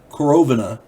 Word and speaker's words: Korovina: K-O-R-O-V-I-N-A. Korovina group. I'm going to say Korovina, because I'm pretty sure that's how it's pronounced.